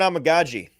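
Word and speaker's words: Amegadjie: I'm gonna go with Kieran Amagaji because it's fun to say. Yeah. It sounds like Tamagotchi. If you're a kid, Tamagotchi as a kid. This is and you Amagachi, pronounced it immaculately.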